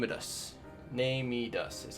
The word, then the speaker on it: NeMedus: on with named heed us name it us name me does is how you pronounce his name the nightmare under the sands